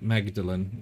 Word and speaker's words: Magdalene: right it's all right Magdalene I can't decide whether to say Madeline I don't pronounce the G normally although Mary Magdalene